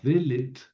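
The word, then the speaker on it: דלת: Por ejemplo, el acento cae en la primera en la primera sílaba, delet o daat.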